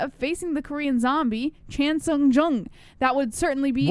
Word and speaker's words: Chan Sung Jung: I just said it how it's pronounced. Chan Sung Jung.